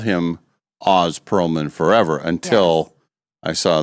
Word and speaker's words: Oz: It looks like Oz. Everybody would say Oz, but it's Oz. We pronounce it Oz.